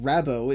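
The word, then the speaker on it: Rabbot: girl named Bunny rabo yes it is canonically pronounced rabo if you can believe that SWAT Bots mid-roboticization while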